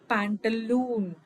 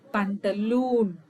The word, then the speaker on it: pantaloon: Only the oo sound here is prolonged.